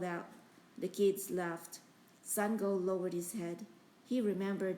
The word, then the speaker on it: Sangoel: When he frowned at the paper, Seng go knew whose name he would call next. My name is Seng go, he said before the coach could say it wrong.